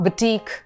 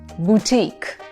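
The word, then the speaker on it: boutique: यू ई इज नॉट बुटीक इट्स नॉट बुटक इट्स बुटीक बुटीक इट्स बुटीक so teak पे एमफसा इज करेंगे हम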